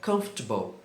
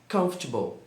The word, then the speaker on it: comfortable: pouco grande também e muitas pessoas querem falar todas as sílabas dessa palavra. E algumas pessoas dizem comfortable, confortable, comfortable, mas a pronúncia correta é comfortable. Comfortable.